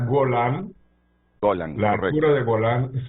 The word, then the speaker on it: Golán: pero el embajador no sé si si se pronuncia así golan o golan embajador me disculpa Buenos días Buenos días Renato se pronuncia golan golan Laura de golán es una zona que